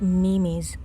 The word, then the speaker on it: meme: Speaking of social media, please do not scroll through internet memes. Say meme. Share this funny meme. It's just one single smooth syllable.